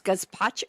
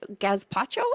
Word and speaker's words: gazpacho: Gazpacho. Gaspacho. How do you say that? Gazpacho.